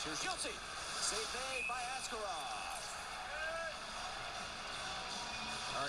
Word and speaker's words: Askarov: you guys calling him Askarov? He demanded a change. He wants to be called Askarov over here, although the correct pronunciation is Askarov.